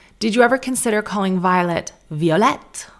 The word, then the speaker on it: Violet: And I said, your name's Violette? And she said, oh, it's Violet, but that's how I spell it.